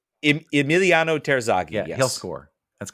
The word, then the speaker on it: Terzaghi: Terzaghi? Emiliano Terzaghi.